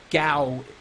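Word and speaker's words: Gau: deal with it someone said gaw and that's how I pronounce that name gaw is the best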